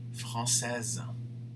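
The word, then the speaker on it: française: say the s but madame will have to pronounce the z sound at the end mark jose francais madame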